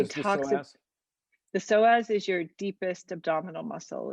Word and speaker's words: psoas: The psoas is your deepest abdominal muscle. It's spelled PSOAS.